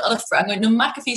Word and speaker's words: McAfee: We've decided we're going to go with the Irish version of the pronunciation of the name, because I hear a lot of other, I'm going, no, McAfee sounds much better to me.